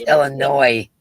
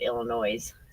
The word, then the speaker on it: Illinois: It's Illinois. Did I say it wrong? Yeah, it's Illinois, and I think you said Illinois. Noise, like, you know, okay, D.